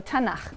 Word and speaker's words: Tanakh: also on that sheet tanak which is really the letters t n and um and they put little A's in there to make it easy to pronounce because is hard to pronounce so tanak okay um and this is